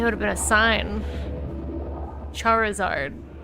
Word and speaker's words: Charizard: It's Charizard. I've been calling him Chartazard. Like that with a T.